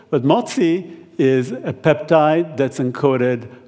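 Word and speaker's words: MOTS-c: we're particularly excited about which we call motzi or matzi depending how you want to pronounce it but mozi is a peptide that's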